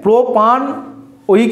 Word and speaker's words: প্রোপানোয়িক: তাহলে এখানেও ইটা বাদ যাবে, ইয়ের উচ্চারণ করব না আমরা। তাহলে কি হবে? প্রোপানোয়িক acid, প্রোপানোয়িক acid, প্রোপানোয়িক acid, প্রোপানোয়িক acid, প্রোপানোয়িক acid.